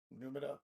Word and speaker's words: Numina: Is that how that's pronounced? Numina? Numina? Numina. Yeah, Numina.